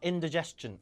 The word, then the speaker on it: indigestion: 경험이 뭐예요네 I got indigestion I got indigestion 인이 아니라예요 드 바음 스가 아니라 강세가 없는 운전은 다 의로 죽이게 돼 있어요 그래서인 diest 하 못 알아들어요 indigestion I got indigestion